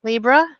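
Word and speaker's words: Libre: at is Libra office um Libra office is pronounced Libra um just so those of us that don't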